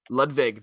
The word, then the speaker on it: Ludwig: soundtrack even though it's not johnny boy williams ludwig does it great job ludwig very good guy ludwig that that's the way to say it i've